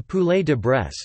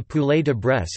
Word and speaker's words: poulet de Bresse: The poulet de Bresse, French pronunciation, pou, ld, bees, or volaille de Bresse is a French chicken product which has appellation d'origine contrôlée status.